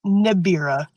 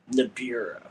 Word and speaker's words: Nibria: I'm just Nibira. Nibira.